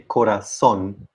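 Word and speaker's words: corazón: ends in n and i would say corazon so the last syllable is stressed it's a word that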